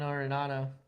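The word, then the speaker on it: Arenado: Also have a third baseman over there, Nolan Arinado.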